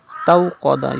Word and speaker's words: استوقد: There is Wawleen after Ta. Tawqada. You have to read Wawleen without stretching. And then you have to pronounce Qaf with thicker voice because Qaf is a Mustaliya letter.